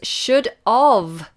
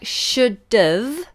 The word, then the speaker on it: should've: sorry I should have because it sounds like should've should've which is short for should have lots of people mistake it for should of should've I should have